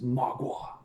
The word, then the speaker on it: Mgła: explaining how the name of the band is pronounced. It's Mgła, not Mgła or Mgła or Mogwai.